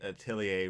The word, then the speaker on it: atelier: I'm like, yeah, I looked it up. It's Atelier. French is weird. French is Atelier.